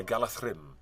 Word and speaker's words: Galadriel: And Do you know that in Tolkien, a DH consonant sound gets a TH pronunciation?